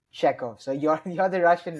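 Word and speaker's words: Chekhov: instance there was Anton Sheekov am I saying his name Right. Anton Czechov.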